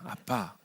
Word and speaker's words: 아빠: 이야기하면 하나님을 아빠라고 부른다고요 이건 번역한게 아니고요 원래 아람어의 발음입니다 아빠 그니까 이스라엘 사람들이 아버지를